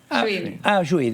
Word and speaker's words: Suite: simple y muy directo suite creo que se pronuncia así en frente de todo por buenos aires que está eduardo serenellini pronuncie bien no pronunciamos a como es el apellido sweet muy bien bueno bueno recién